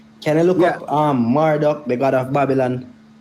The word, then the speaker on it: Marduk: Hey, Jack, can you look up um Marduk, the god of Babylon?